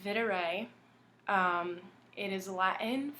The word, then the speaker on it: Videre: com shop / for dear vintage it's actually pronounced Vitter a it is a lot in for video which